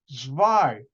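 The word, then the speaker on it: zwei: the German number two zwai w z w e i in German the W is pronounced like a V and when I used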